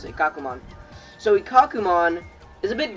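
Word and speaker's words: Ikkakumon: kakuma yeah i remembered it that's how you pronounce it kakumon so ikakumon is a bit different he's really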